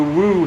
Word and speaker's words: Woo: Welcome everyone, Adam the Woo here. It rhymes with boo, which segues into the scary season that is upon us.